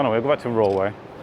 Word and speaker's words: Roewe: Let's head into the next, oh no, we'll go back to Roewe, or Rongwei, as they're pronounced.